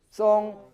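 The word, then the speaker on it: 鬆: 더벅머리 송, 송, 더벅머리 송, 송, 숑이 아니고요. H가 없습니다. 그냥 O입니다.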